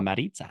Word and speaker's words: Maritza: Maritza, is it Maritza? Is that how you say it? Roll that R. Perfect. Thank you. Maritza.